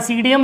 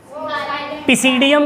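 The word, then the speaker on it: Psidium: और ये जो इसमें देखो, इसमें पी लगा है ना, और यहाँ सीडियम लिखा हुआ है, तो ये पी क्या है? पिसीडियम क्या नहीं पढ़ते इसको, सीडियम क्यों पढ़ते? क्योंकि पी क्या हो गया बेटा? साइलेंट हो गया।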